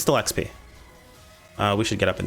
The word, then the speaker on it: XP: previous videos that mentioned it's pronounced XP not exp um so I'm going to do my best for the rest of this video if I ever talk about experience I'm gonna say XP and not exp even though I've